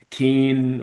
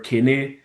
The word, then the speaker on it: Kene: So it's like it when I first came, I tried telling everyone they'll call me Keen or Kene, and everyone was messing it up, saying different abbreviations and kind of different pronunciations.